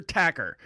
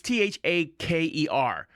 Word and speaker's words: Thaker: Shabir Tacker is with it, Dr. Tacker, but it's Thaker.